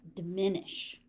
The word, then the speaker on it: diminish: Diminish. Short. first syllable. Second syllable has all the stress.